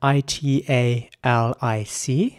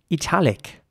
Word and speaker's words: italic: following word is spelled i-t-a-l-i-c and in British English some people would say italic with an e sound for the I and in American English